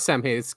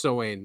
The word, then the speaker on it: Samhain: It's not Samhain. It's pronounced Samhain, right?